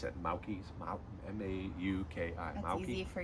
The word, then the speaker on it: Mauki: I don't know how to pronounce it. Mauki's, M-A-U-K-I.